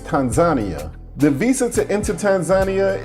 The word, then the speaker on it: Tanzania: I was used to saying Tanzania, but the locals let me know that the right pronunciation is Tanzania.